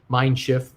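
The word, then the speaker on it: Mein Schiff: german cruisers let's say mine shift being a german pronunciation uh very good cruise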